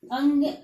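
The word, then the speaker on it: ङ: इसको अड़ा भी बोलते हैं, लेकिन इसका सही उच्चारण अंग है।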